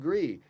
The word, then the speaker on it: gris: But Garnacha, you would certainly in Spain you roll your R, so it'd be Gris. En français, it would be Gris. In the throat, yes.